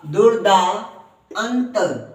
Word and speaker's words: दुर्दांत: दु द में छोटे उ की मात्रा द द के बाद ऊपर वाला र बोलेंगे र दूर दूर फिर द द कोवा की मात्रा दा तो दूर दा दुर द दूर दा दुर्दांत दुर्दांत क्या बोलेंगे दुर्दांत दुर्दांत